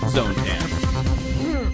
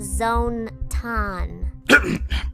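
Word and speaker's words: Zone-tan: Now for your host, the one and only Zone Tan. It's pronounced Zone Tan.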